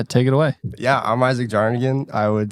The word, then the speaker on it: Isaac Jarnagin: podcast my name is Ethan Marquis we have Isaac jarnagin did I pronounce it right yes sir let's go uh